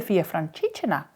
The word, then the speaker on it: Via Francigena: She said, oh, you mean the Via Francigena, with the emphasis on the fra part.